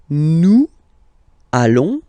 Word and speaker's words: nous allons: I'm sure you are, you want to make this beautiful and little liaison, so this little link between the words.